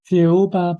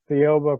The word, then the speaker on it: Thiaoouba: And the book is called sorry, can you pronounce it again? Thiaoouba Prophecy. Thiaoouba Prophecy.